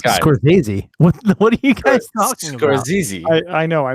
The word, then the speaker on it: Scorsese: I like Martin Scorsese did you just say his name scores Ozzie Scorsese Scorsese it's good its cults it said squares easy it's not it's Scorsese was easy I know